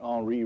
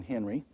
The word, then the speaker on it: Henri: This picture was done by an artist named Henri Matisse, and he was from France, and that's why you pronounce that Henri rather than Henry.